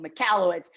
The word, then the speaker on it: Michalowicz: he talks about mike mcallister there we go michalowicz um you know in the book he talks